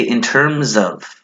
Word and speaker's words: in terms of: mess up the pronunciation you need to say in terms of with the s if you don't say the S it's wrong it's not gonna sound good and then you need